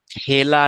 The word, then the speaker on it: খেলা: যখন আমরা উচ্চারণ করি খেলা হবে তখন কিন্তু এই খেলা শব্দের ভিতরে আমরা বর্ণ লিখি খয়ে একার লয়ে আকার কিন্তু আমাদের উচ্চারণটা কিন্তু খেলা নয় আমাদের উচ্চারণ হয় এইটা খয়ে জ ফলা আকার ল আকার খেলা এটা কিন্তু আমাদের উচ্চারণ